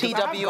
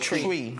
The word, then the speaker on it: Twi: Because T-W-I. I have Ghanaian friends who call it Chui. It's spelled as T-W-I. Chui or Twi? It's spelled Twi, but it's pronounced Chui.